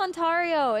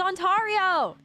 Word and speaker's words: Ontario: Ra is pronounced onario. It's it's it's onario. It's onario.